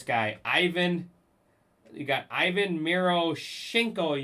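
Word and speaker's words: Miroshnichenko: You got Ivan Miro Shinko. You got to just pretend like you're sneezing. That's how you pronounce his name.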